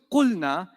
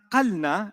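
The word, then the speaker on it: قلنا: But how do you know it's qulna and not qalna and not qilna?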